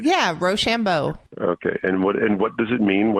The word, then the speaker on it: Rochambeau: MC crew how do you how do you pronounce roshambo is that saying that right yeah Rochambeau okay and what and what does it mean